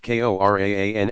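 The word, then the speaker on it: Qur'an: His sole miracle was the Quran, pronounced Qoran and hereafter transliterated as Quran, the Muslim sacred scripture.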